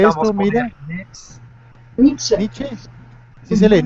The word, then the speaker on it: Nietzsche: Pero lo que pasa es que la otra vez yo dije Nietzsche y tú me corregiste porque la pronunciación alemana es diferente, o no es lo mismo.